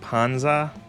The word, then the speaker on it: Panzer: It sounds like belly in Italian. Panzer pussy. Panzer is pronounced like Panza.